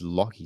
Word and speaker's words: Lockee: The channel name for my music stuff is Locky. So it's spelled Lockee.